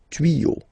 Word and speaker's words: tuyaux: Okay, same rule here, you won't add s at the end, but instead of s you will put x. Okay, des tuyaux. Same rule, you don't pronounce it.